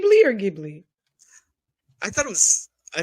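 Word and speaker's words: Ghibli: perfect all right for the record it is pronounced gibli yes it is GI Okay g it is GI not gimly not the dwarf no not the dwarf G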